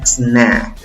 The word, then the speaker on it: snack: La pronuncias con la A que se ríe. Esa A que no tiene ni sombrero ni 2 puntos. ¿Cómo se pronuncia la palabra? Snack, snack, snack. No le agregues una E antes, por favor.